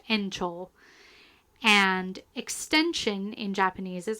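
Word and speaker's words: 園長: him the head of the park, which is pronounced Encho.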